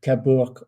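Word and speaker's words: Cabourg: The G is silent. Okay. Kabor. Kapor.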